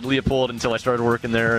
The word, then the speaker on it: Leupold: We don't care how you say it. If you say Leupold, that's okay, but it's actually Leupold. It is Leupold. Okay. Yeah, I said Leupold until I started working